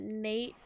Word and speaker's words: Nat: is it nate it's nate wolfe yeah that prepares i get what it says but that's how he pronounces it yeah go ahead that